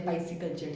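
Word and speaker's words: pisciculture: हैं पीसी कल्चर या पाइस कल्चर ठीक है फसी कल्चर फिसी नहीं पाइस फिसी नहीं ठीक है पा होता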